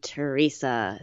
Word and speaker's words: Teresa: So my given name is Teresa, but I never liked the name Teresa. 3 syllables, Teresa, and it's very sharp with a T and an R and a So I thought, I got to do something else.